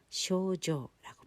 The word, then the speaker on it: 症状: 증상, 쇼조라고 발음을 하고요. 한자어 그대로입니다.